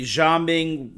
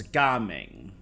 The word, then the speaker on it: Gaming: him jaming um apparently jaming I was told was the Mandarin pronunciation but since this area and he are more based on the Cantonese translation it's gaming not Jam jaming which